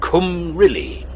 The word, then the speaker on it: Cymru: It's pronounced Cymru.